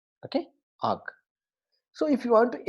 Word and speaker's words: AWK: So the acronym AWK we are going to pronounce as AWK. Okay, AWK.